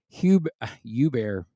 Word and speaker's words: Hubert: Hubert. That's the right way to say it.